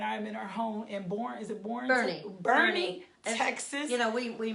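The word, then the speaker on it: Boerne: So this is my guest Lisa, and we are here, and I'm in our home in Bernie, Texas. We mispronounce everything.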